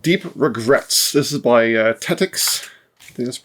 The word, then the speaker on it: Tettix: This is by Tetix. I think that's how it's pronounced. Tetix Games. Yes, Tetix.